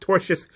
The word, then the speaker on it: tortious: toxic misogyny, and the company's duty to refrain from assisting and encouraging the alleged tortious, it's misspelled here, but it's pronounced tortious conduct, was listed as a complaint towards the companies and Sapolsky.